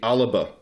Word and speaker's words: Alba: from the get-go because it's the aliba party or it should be uh the word they should spell it like that it's alibaba because scots uh scottish gaelic or gaelic is a language where you have those occasional little vowels in between consonants it is the alba